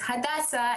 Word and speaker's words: Hadassah: I'm Hada at and people don't usually get my name right but it's hadasa and I think the